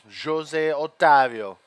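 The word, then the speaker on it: José Otávio: from Jose Jose otavio Jose otavio yes here in Brazil the the J's are pronounced with a J sound they're not an H sound like in Spanish oh perfect good to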